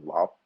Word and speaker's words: Loc: So my name is Loc, but it's actually pronounced Lop in Vietnamese.